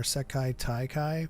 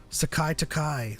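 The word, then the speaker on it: 世界大会: said, and I don't mind saying Yakuza or Sekai Taikai.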